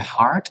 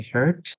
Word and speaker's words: heart: Um the heart we will pronounce with the R the long R. Okay. Uh and I I heard you say hurt.